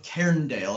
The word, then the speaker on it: Cairndale: it how you say it again blades of cairndale and that's c-a-i-r-n-d very cool um sort of